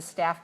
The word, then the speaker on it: staff: sticker in order to park there that's a staff parking lot but that's not a stuffed parking